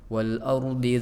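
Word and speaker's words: الْأَرْضِ: Wal ardi dzatis sad', tadi ro-nya wal ar kurang tebal saja, wal ard ya. Jadi cara baca ro tafkhim agak lebih tebal, wal ard ya, agak maju sedikit bibirnya, wal ard ya.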